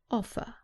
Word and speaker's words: offer: Remember that in British English, the R at the end is not pronounced. So the last sound is an offer.